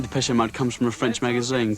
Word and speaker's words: Depeche Mode: And mode is just the word for fashion in French. Depeche Mode. And we just decided we liked the sound of that name. And we chopped off the accent and we just kept the pronunciation.